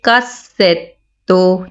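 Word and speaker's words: cassetto: इसमें double S आया है और डबल टी आया है, तो इसको प्रोनाउंस करेंगे कासेतो, यानी दोनों लफ्ज़ों की डबल आवाज़ आएगी।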